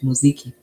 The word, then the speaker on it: muziki: That's how you pronounce it, muziki.